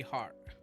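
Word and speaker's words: Hard: i always get confused it's deputy heart heart beating in your chest okay but it's spelled h-a-r-d you call me sunshine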